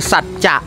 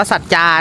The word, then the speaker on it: สัจจะ: เย็น อิ่ม อร่อย ร้าน ชื่อ สัจจะ นะ ไม่ ได้ อ่าน ว่า สัจจา นะ เออ เรา ยน ต เรา ก็ เข้า ใจ ว่า สัจจา คาเฟ่ ใช่ ม มัน คือ สัจจะ คาเฟ่ อ่ะ เดี๋ยว ถ่าย รูป กัน